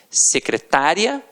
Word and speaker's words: secretária: com aquela pronúncia e você tem secretária e você tem secretaria e aí já é o que já é diferente já não é mais uma paróquia situada a terminar de tonghua é você já tem uma pronúncia diferenciado então secretária o secretário